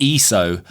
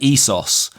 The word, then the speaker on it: ISO: Um, because No, but it's an abbreviation of the word ESOS, which is Greek for equal. So, if you're going to abbreviate something, then you should at least keep the same pronunciation of the of the thing. But nobody says, you know, I set my camera to 400 ESO.